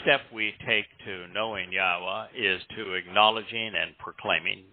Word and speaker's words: Yahowah: If you can say Shalom, you can pronounce the only letter that would throw anybody off in Yahweh's name, which is the Wah, that beautiful tent peg